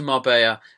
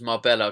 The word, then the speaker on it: Marbella: Anyway, I went to Marbella, which I like to pronounce as Marbella because it has got 2 L's in it. It's Marbella.